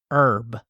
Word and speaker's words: herb: I'm no herbologist, so yeah, I struggle whether it's a tree or herb. Yeah, I don't know. Yeah, because I see both in the Wikipedia. Do you pronounce the H in herb?